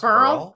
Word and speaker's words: beryl: So it's pronounced Burl?